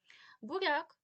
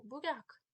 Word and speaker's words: буряк: мові чується коли апостроф порівняйте два слова буряк і бурян буряк 5ть літер ми вимовляємо м'яку буряк а бур'ян ми вимовляємо тверду там під'їзд Об'їзд нам треба